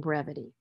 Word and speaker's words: brevity: s tu d and in abbreviate we have the basis B re b e and the e is pronounces with its long sound and abbreviate and with the short sound in brevity and the reasons for